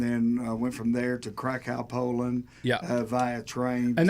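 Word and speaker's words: Kraków: Krakow. Why are we not surprised? Krakow. Oh, okay. You gotta say it like a bird. Like, Oh my goodness. cacao.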